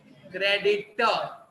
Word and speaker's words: creditor: लेकिन अगर मुझे किसी पार्टी को पैसा चुकाना है, तो वो मेरा क्रेडिटर, क्रेडिटर, वापस आर साइलेंट है, क्रेडिटर।